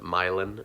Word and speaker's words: Milan: Then there's London, Michigan, which is right next to Milan, Michigan, but they pronounce it Milan, Michigan, which is fun.